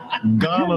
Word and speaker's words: Garner: they say Ghana West Africa I said no Ghana North Carolina they said spell it I said g a r n e